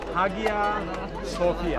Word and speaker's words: Hagia Sophia: Hagia Sophia.